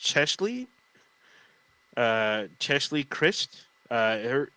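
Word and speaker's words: Cheslie: start with um i i believe her name is pronounced chesley uh chesley christ uh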